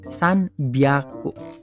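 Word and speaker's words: 三百: Tapi karena di sini ketemu san, apanya yang berubah? Hi-nya jadi B, san byaku.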